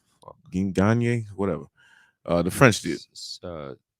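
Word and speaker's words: Ciryl Gane: Gagne, whatever. The French dude. Cyril Gain. Cyril Gain.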